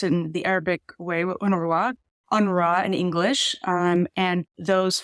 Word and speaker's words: UNRWA: A lot of people have seen these 5 letters, UNRWA, UNWRA. Can you just set the table a little bit? What does this agency do, and what is it doing in Gaza right now? Yes, so UNRWA, or I tend to pronounce it in the